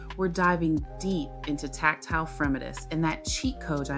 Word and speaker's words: fremitus: Pronunciation, fremitus.